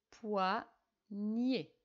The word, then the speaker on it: poignet: fini avec le mot poignet et on corrige poids nier on entend mieux dans la dernière syllabe très bien alors maintenant